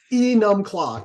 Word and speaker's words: Enumclaw: It's an Enum Claw.